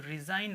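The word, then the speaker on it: resign: एन ठीक है तो रिजाइन पढ़ते हैं इसको रिजाइन ठीक है इसमें जी नहीं पढ़ाया जाएगा लिखा जाता है लेकिन पढ़ा नहीं जाएगा ठीक है इसीलिए तो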